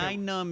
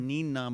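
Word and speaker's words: Nien Nunb: I'm saying Nine Numb is the official canon. Nine I Numb, actually okay. said Neen Numb my entire Yeah.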